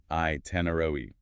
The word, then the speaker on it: itinerary: The correct pronunciation stresses the second syllable. I tenoroi.